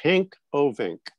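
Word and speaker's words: Henk Ovink: to mention someone named hank ovink and no i didn't mispronounce hank's name hank is a dutchman he's from the netherlands he was the water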